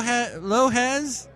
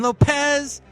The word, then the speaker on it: Lopez: nobody knew Jennifer loh lohez I think you said her name wrong I mean Lopez apparently she has a